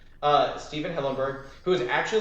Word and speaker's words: Hillenburg: hillenberg hillenberg i want to make sure i pronounce that right uh stephen hillenburg who is actually like a marine biologist um